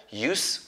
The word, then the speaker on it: use: zip with Z but if it's a noun if it's like a name you can pronounce it as use with s okay it says uh